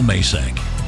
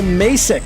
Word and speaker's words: Macek: I am Macek. Macek is the way it's supposed to be said. The guy that does the professional pronouncing, whenever he cut the liner, he says Macek.